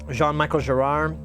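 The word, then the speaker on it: Jean-Michel Jarre: an affectionate term what are your thoughts about Jean Michael Gerard or Brian Eno uh yeah you pronounced it right oh thank you good I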